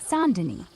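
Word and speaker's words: Saint Denis: As a reminder, it's pronounced sand. Got it. Goob. St. Dennis. Sandin.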